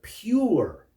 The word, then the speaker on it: pure: poor or something but it sounds like there's a y in there pure pure is an adjective